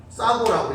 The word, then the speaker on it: 싸고: 싸고라고 읽어야 됩니다.